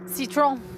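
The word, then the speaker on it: Citroën: form of citen Citron that's how you say it in French I'm sure it's like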